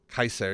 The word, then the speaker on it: Caesar: Caesar K or which would have been pronounced Kaiser yeah uh sound rather